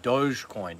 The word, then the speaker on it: Dogecoin: So, I think you mean Dogecoin. Dogecoin. Yeah, I'm sure that's what it's, how you say it, Dogecoin. But doggy just sounds cooler.